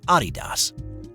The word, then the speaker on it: Adidas: the shoe brand and I'm going to pronounce it the way Americans do Adidas in the mid to late 1920s of course in Europe it's said Adidas a RI between the